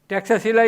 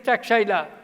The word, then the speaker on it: Taxila: Taxila University, old name was Takshashila, English pronunciation it is Takshila, now in Pakistan.